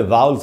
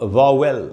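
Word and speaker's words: vowel: 5 तो उसमें वाउल्स होते हैं। अच्छा दोस्तों, वाउल कह रहा हूँ मैं, जिसको हम लोग वावेल बोलते हैं, उसका करेक्ट प्रोनाउंसिएशन होता है वाउल।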